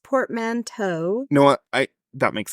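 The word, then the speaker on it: portmanteau: Mano I it says two Port P it's pronounced portmanto no what I that makes sense I just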